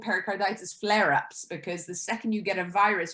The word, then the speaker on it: pericarditis: can pronounce it right pericardis oh i had it written down pericardis say it what is it pericarditis carditis oh i put it is okay pericarditis now this whatever they